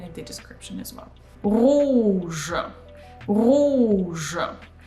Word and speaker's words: rouge: Rouge. Rouge. Similar here, oo, this is closed sound, so oo, and you pull your tongue back. And je is pronounced as voiced.